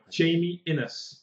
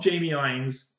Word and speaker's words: Innes: Pronounce his name right for like the first time ever in a YouTube video. Jamie Innes. Not Jamie Ines.